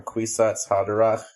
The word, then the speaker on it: Kwisatz Haderach: But it is notable that the term Kwisatz Haderach is an anglicized pronunciation of the phrase Kefitzat Haderech, which translates as the